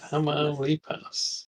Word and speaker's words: Tamaulipas: Oh, Josie's given us a pronunciation guide for Tamaulipas. Where is it? Put it on screen again. Yeah. Tamaulipas. Which Josie? Which syllable is emphasized? It's typically the penultimate vowel sound in Spanish, unless Tamaulipas. Yes. Tamaulipas.